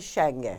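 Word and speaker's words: Shange: NTOZAKE Shenge.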